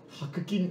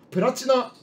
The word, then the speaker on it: 白金: は知ってるけど白金あれ白金白金って読むんだあれえーあプラチナアプラチナかもう 20 で騙さ